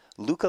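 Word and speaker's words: Lykke: so far he recommended Luca Lee uh I guess you pronounced this the first name of this girl well the it's spelled l-y-k-k-e he said it's said Luca so I don't know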